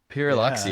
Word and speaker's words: Pyrrholoxia: I'm going to have to ask John to pronounce this again. Pyrrholoxia. Pyrrholoxia.